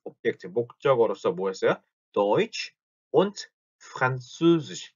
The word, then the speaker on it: Französisch: 왜라고 소리를 하면은 오에가 되면서 입이 장옆으로 벌어지는데 여기서 말하는 옴라우트는 입이 벌어지지 않기 때문에 으 다시 한번 그래서 Französisch, Französisch, Deutsch und Französisch, Deutsch und Französisch 요렇게 발음을 합니다.